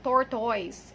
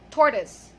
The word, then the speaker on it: tortoise: So the last vowel sound there is a schwa sound. So not oi, not tortoise. It's schwa. It's tortoise.